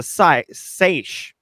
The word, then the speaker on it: seiche: Turns out the culprit was a standing wave, also known as a seiche, which is pronounced how I did, but we all know it's French for I dare you to spell this.